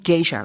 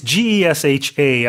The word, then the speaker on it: Gesha: 그런데 이제는 now we're talking about Panamanian geisha coffee. Yeah, so it's Gesha. I think you can pronounce it geisha, Geisha. like the Japanese female entertainers, or gesha is how it's spelled.